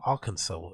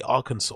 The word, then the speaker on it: Arkansas: But why is it spelled Arkansas when it's pronounced Arkansas? Because that is not a saw at the end.